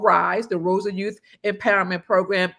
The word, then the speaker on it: RISE: And the galas is going to be around our signature program called the Rosa Youth Empowerment Series, pronounced RISE.